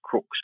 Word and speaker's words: Crux: constellation is not Southern Cross it is Crooks Crux Crooks is the is the proper pronunciation of it and that means like a